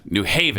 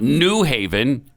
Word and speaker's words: New Haven: on the wrong word must not be on the new it's going to be on haven new haven behavior not new haven uh it's so weird